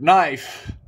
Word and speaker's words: knife: that was another word knife knife guys has a silent k Julio number one sander